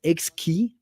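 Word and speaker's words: Xkey: to say one thing it's pronounced X key because it's a play with words like it's an hexagonal keyboard so if you just take like X and keyboard that makes instruments we can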